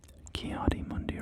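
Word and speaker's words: Ki-Adi-Mundi: Or are you sorry, I'm suddenly recalling that I pronounce his name in a weird way. Kiadi Mundi, right? Isn't that how it's actually pronounced?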